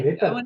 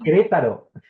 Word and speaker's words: Querétaro: Querétaro. Querétaro. Querétaro. Yes. I totally butchered that.